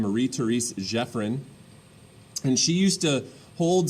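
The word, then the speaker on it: Marie Thérèse Geoffrin: therese jeffrin is how you say her name marie therese jeffrin and she used to hold salons um basically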